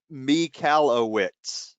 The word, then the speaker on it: Michalowicz: we have Mike and I've got the phonetic spelling because I think I've been saying it wrong me Callao wits know that you nailed it okay I had to